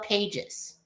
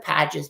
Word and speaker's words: Pages: I know it's spelled Pages.